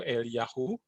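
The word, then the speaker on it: אליהו: bahasa ibraninya ada kisah itu kalau dibaca itu eliyahu artinya arahku adalah Yahweh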